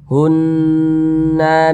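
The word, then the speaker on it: هُنَّ: hukumnya ghunah musyad dadah cara bacanya digunahkan suaranya kita tahan kita panjangkan sejenak hunna bimuf hunna kita kita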